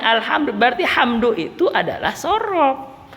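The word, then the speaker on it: الحمد لله: Bacanya alhamdulillah, berarti hamdu itu adalah sorob. Enggak dibaca al-humaidulillah, enggak. Alhamdulillah, enggak. Alhimidu, enggak.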